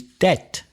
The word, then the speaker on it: debt: Don't confuse that with deuda, which is debt, D-E-B-T.